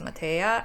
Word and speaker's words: Mateja: My creation name is pronounced Mateja and the first name is pronounced, not, just in case anyone was wondering or mispronouncing.